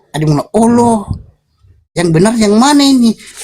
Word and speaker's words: Allah: Ada juga yang bilang e itu ada yang bilang huruf A-nya dua itu huruf A-nya dua itu jadi O jadi Allah dengan tong biasanya Kristen yang ada juga ada juga yang eh r-nya didobel jadi Allah begitu jadi sebenarnya itu enggak